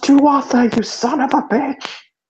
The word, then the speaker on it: Tuatha: It's pronounced Tuatha, you son of a bitch!